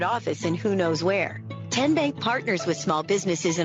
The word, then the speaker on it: TN Bank: the name tn bank no tin bank uh-uh so what is it ten bank ten as in tennessee right here where all